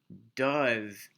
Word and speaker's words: does: Well, it's the same thing for do, except it's spelled a little bit funky. That's just because this E is silent. He does not run fast, right?